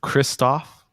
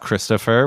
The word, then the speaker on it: Christophe: It's Christophe, nice, not Christopher. What is he, not French anymore, Dave?